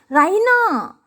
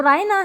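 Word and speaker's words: Raina: राहिना, शी प्रोनाउंसेज इट राहिना, वैसे तो रायना है नाम उसका, या रैना आप बोल सकते हैं, लेकिन वो जिस तरीके से प्रोनाउंस कर रही हैं इस नाम को, तो वो सुनने में कैसा आता है? राहिना, with the stress on the double E, तो जो स्ट्रेस है वो डबल ई पर देती हैं।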